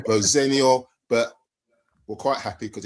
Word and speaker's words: Rosenior: So the correct pronunciation is Rosenior, but we're quite happy because it's been going on for 40 years, and whatever, we'll go with it.